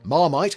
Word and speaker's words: Marmite: The name Marmite, while pronounced in English as Marmite, was derived from the French Marmmit, meaning cauldron or stockp,